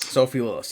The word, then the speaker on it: Sophie Lillis: And now we get the Tiefling, Doric, played by Sophie Lillis. Is that how you say it? Sophie Lillis, yes.